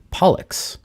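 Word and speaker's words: Pollux: handle down is is pollock which rhymes with bollocks and that's one of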